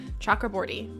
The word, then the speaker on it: Chakraborty: I'm pronouncing that correctly I watched part of an interview with this author so that I could hear the way that she pronounces her own name chakra bori um sometimes on some